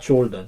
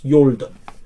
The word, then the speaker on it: Jordan: Half of the Manasseh got their land in the eastern side, the sunrise side of river Jordan, not Jordan, it's Jordan. J is silent, yo, soft, Jordan.